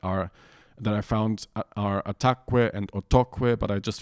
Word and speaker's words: ataquë: So it's pretty rare that these two consonants make a syllable stressed that wouldn't be stressed anyways, because it would be the third to last syllable.